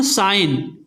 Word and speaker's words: sign: SIGN, साइन, ये क्या लिखा हुआ? शाइन, लेकिन साइन में क्या जी आ रहा है? नहीं आ रहा। हम जब उच्चारण कर रहे हैं तो साइन में जी नहीं आ रहा, तो मतलब यहाँ पर साइलेंट लेटर क्या हो जाएगा? जी।